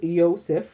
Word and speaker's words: Yosef: means to increase in also um pronounced Yosef with a Y and it's probably more